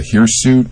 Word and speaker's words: hirsute: You haven't yet discussed the hirsute. I don't know if I'm pronouncing that correctly.